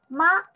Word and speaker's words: 吗: Ma, the pronunciation just like a second tongue, just the rise up.